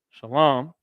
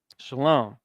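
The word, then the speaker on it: שלום: Shalom. It's going to look like this, right? Shah, and then La, and then Ma. Shalom. How else does it look? It looks like this. Shah, La, and Ma.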